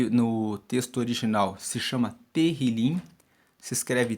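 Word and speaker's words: Tehillim: de Salmos no no texto original se chama terril se escreve t e h i l i m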